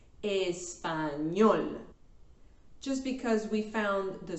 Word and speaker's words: español: The stress syllable is at the end, la última sílaba, sílaba número 3 in this case, español.